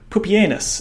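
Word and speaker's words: Pupienus: And here we have an Antonianis uh from the Romans of Pupanus and yes that is how his name is pronounced.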